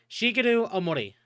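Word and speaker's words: Shigeru Ōmori: I see asking how you pronounce that. Uh Shigaru Omori.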